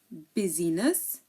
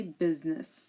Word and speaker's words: business: we do not say business okay we say business here the I is silent and this is the only exception in this word business remember business the ey